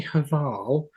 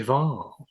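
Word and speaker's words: Hval: Um and that was before I I researched because she has a silent H in front of her name. So I said Jenny Haval and it's actually Jenny Haval.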